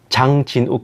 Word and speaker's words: 장진욱: 제 이름이 장진욱인데 영어로 해도 장진욱 거의 그대로 발음이 돼요. 중국어로 하면 짱젠시라는 발음입니다.